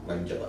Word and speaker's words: Langella: Did I pronounce that right? Frank Langella. Langella, yeah.